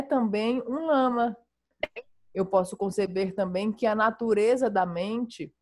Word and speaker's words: lama: So the word, it's two syllables, and the first syllable is la, and the second syllable is ma. And la means supreme, above all, nothing higher. And ma means mother.